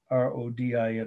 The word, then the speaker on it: Rodin: So here we are, the last artist of the night, Rodin, R-O-D-I-N, or Rodin, as they say in France, they pronounce it that way, R-O-D-I-N, last name.